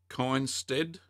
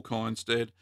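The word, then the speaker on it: Kindstedt: book here by Paul anyone pronounce that coin stead I think I'd say so Paul coins dead it's called cheese and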